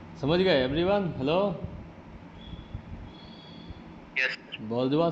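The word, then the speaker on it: bourgeois: बर्जुआ समझ में आया? इसका करेक्ट प्रोनाउंसिएशन यही है।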